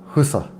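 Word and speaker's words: 福生: SA and it's pronounced Husa because they pronounced like a WH for an F but Shinji is Shinji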